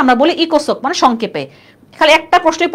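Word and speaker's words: ECOSOC: সামাজিক পরিষদ বলতে কষ্ট হয় না আমরা বলি ইকোসক মানে সংক্ষেপে খালি একটা প্রশ্নই পড়বো আমরা মেম্বার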